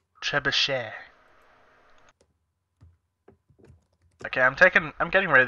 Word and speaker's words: trebuchet: Trash bucket. Trash bucket? Is that what you call it? I pronounced it wrong. Okay. Trebuchet. Trebuchet.